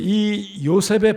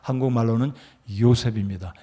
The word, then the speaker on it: 요셉: 근데 이 요셉의 발음은 헬라 발음으로 정확하게 발음을 하면 이요셉, 이걸 빨리 하면 조셉이 되는 거죠. 영어로. 그리고 한국말로는 요셉입니다.